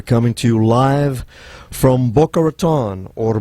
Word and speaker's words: Boca Raton: We're coming to you live from Boca Raton, or Boca Raton, which is the correct pronunciation.